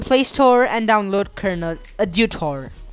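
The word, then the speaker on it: Adiutor: Store and download colonel a du tour so that's how it's pronounced a detour and once the download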